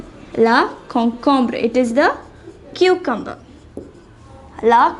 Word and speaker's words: concombre: karot it means carrot the next vegetable is la concombra la concombre it is the cucumber la concombra next one